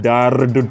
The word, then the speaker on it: dared to: பண்றதுனால டேர் டு ஆனது டேர்டு டு அப்படின்னு மாதிரி குறிப்பா இதை ப்ரொனவுன்ஸ் பண்ணும்போது இந்த மாதிரி ரொம்பலாம் அழுத்தி சொல்லவே கூடாது. டேர் டு அப்படின்னு தான் பாஸ்ட்ல வந்தாலுமே சொல்லணும்.